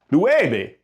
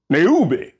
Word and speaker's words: nueve: If it's pronounced nueve, and we got it spelled N-E-U-V-E, then that would sound more like neube, and that ain't right.